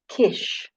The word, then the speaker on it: kish: They lived in rectangular um, huts called kish or kishes, like fish. It rhymes.